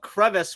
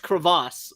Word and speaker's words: crevice: And then we went through this list of other words I might be getting wrong, and it turned out crevice was not pronounced crevasse.